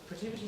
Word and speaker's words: Protiviti: Pronounce it right. Sorry? Protiviti. Protiviti. It's Protiviti. So I guess just as an introduction, so Protiviti is a global management consulting firm.